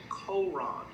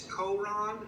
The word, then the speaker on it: Coron: It's Coron. I'm not sure how they pronounce it. That's how we say it here. It's C-O-R-O-N, Coron.